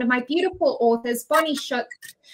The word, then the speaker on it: Shutz: my beautiful authors, Bonnie Shutz. How are you, Bonnie? I'm very good. How are you? Good, thank you. I'm pretty sure I just pronounced your last name wrong again. It's Shut. Shut, yes.